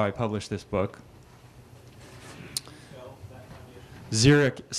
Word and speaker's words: Xeric: I published this book zerich is spelled x r i c and the founder